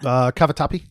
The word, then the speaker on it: Cavatappi: Cavatappi.